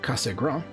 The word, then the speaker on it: Cassegrain: about the schmidt cassegrain because he was french i believe it would actually be would be pronounced laurent casagram he was a french